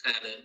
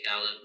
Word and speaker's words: Khaled: So the proper pronunciation is Khaled, like you said, but since not many people can pronounce that, I'm happy with Khaled. I often say Khaled like salad, Yeah, that's it. um, That, or just Khaled. okay.